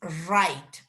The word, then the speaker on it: write: okay first of all remember when you pronounce this verb you never pronounce the w aha is right you pronounce only the r right and in here